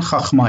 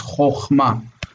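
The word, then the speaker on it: חָכְמָה: It's not chachma, it's chochma.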